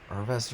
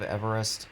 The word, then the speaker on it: Everest: in Japan um like mispronounced it and called it uh Arvest or something like that instead of Everest.